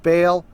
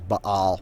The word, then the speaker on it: Baal: And they built the high places of Baal, which are, and I'm aware that, the pronunciation is Baal, whatever, but we just say Baal for convenience sake, which are in the